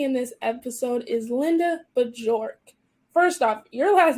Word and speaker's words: Bjork: And my last name, which is pronounced Bjork, is actually Swedish, and it is a birch tree, which is kind of cool.